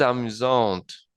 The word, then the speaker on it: amusant: Si esta frase fuese masculina, se pronunciaría il est amusant. Il est amusant sin la pronunciación de la T, porque se escribiría sin E, y traduciría él es divertido.